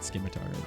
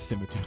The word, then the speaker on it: scimitar: It's definitely not Skimitar. It's scimitar.